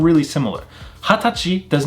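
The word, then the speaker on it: はたち: We actually pronounce this as hatachi.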